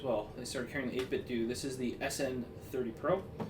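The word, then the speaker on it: 8BitDo: just to chill, play some games, is this 8-bit do.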